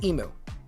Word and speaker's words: emu: And I said to him, the way that Americans say emu is emu. It is in the Merriam-Webster's dictionary as emu. That is how we say it. I understand some Aussies do not like that, but the way we say it is emu.